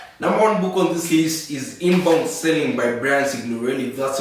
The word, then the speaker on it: Signorelli: Number one book on this list is Inbound Selling by Brian Signorelli. That's how it's pronounced.